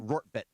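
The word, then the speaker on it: Rortvedt: It's Rorvart, right? Yeah, Rorvart. How do you say his name? Rortvet.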